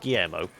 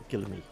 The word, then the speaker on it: Guillaume: It's not Guillermo. It's Guillaume.